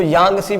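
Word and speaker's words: Yangtze: Asia की सबसे लंबी नदी अगर आपसे पूछा जाए ना, यांग, टी साइलेंट होता है तो इसको यांगसी बोलेंगे, तो याद रखना एशिया की या है भाई, या से क्या बना, यांगसी।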